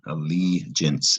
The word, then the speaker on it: allegiance: Allegiance is a 3-syllable word. Stress on the li.